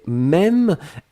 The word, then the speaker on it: même: Et puis la dernière chose, c'était même, M-E, accent circonflexe, M-E.